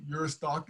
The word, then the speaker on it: Juristac: Uristac is spelled Juristac, and then go there and then sign our petition and pass our petition on to others.